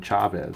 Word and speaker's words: Chavez: the call here and I did look at a video and he does pronounce his name Chavez so that's what I'm going with sin of Shabbos I'm going with Chavez cuz that's what he calls himself so Eric Chavez will